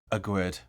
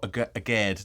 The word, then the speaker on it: Aguerd: to be talking about a grid or a geared depending on your point pronunciation of it is 26 years old